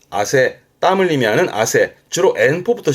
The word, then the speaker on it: 汗: 발음은 아세.